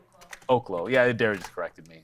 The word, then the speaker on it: Oklo: Um, that being said, I was hoping that Oaklo would turn into something. Oklo. I guess I say oklo, but I suppose it's olo. It's legally Oaklo. Yeah, Darren just corrected me. So Oaklo.